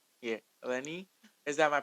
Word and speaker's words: Ellenie: who let me see if I pronounce it elenni yeah Eleni is that my pronunciation sometimes you know I'm saying um Eleni